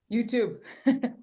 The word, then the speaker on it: YouTube: if you will YouTube there you go one word two syllables sounds like rube but it's tube wow yeah I'm I'm